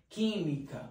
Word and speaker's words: química: q ou um k química o u é como se nem existisse quando você fala você não pronuncia ele portanto química é um